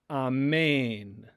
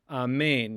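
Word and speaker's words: ἀμήν: And then we have mu, and then there's eta with an accent mark in it, so it's going to receive the stress.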